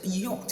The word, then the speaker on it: yacht: meaning that the two pronunciations are correct. What only makes the difference is the accent. So what does yacht really means? If I call it yacht, you know, I'm already using the American pronunciation.